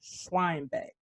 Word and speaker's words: Schweinbeck: sitting down with diana schweinbeck yes you got it right yeah i was gonna ask a lot of people don't say it right so yeah yeah because they assume that h is silent yep exactly gotcha gotcha